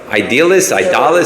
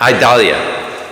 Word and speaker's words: Idalia: Hurricane what? Idalis, or something like that. Whatever. How do you pronounce it? Idalia.